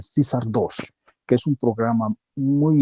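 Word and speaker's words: CAESAR II: Entonces hay toda una especialidad y un programa bastante interesante para poder aliviar estas tensiones es el CISAR, ¿no? Se escribe CAESAR 2, el CISAR 2, que es un programa muy interesante y es ya toda una especialidad dominar este programa.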